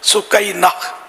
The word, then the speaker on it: سکینہ: بہت مشہور ہے سکینہ، تو یہ ہے اس کا اصل تلفظ سکینہ۔ سکینہ لفظ بھی اچھا